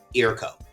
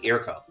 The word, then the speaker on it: IRKO: Eroco. Yep. Like, am I pronouncing that correctly? Eroco.